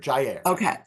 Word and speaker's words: Jair: It is air. It rhymes with air, Jair.